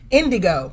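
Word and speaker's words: N'Dygo: So but, for people at home, how do you pronounce your name? Indigo, like the color.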